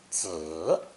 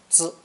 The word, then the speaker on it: 子: Pronounced third tone, 子, 子, and sometimes neutral tone, 子, 子.